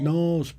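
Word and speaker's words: Knaresborough: nsbra in North Yorkshire nbra is how you pronounce it Nob yes NB oh yeah I was always NRA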